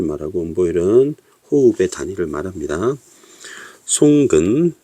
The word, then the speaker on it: 송근: 송근, 여기 보면 나무 목이 들어있고 발음은 송입니다.